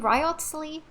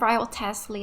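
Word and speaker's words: Wriothesley: Wait, how did he say his name? Riotsley. I've always said Riot Teslley. I've said it completely wrong.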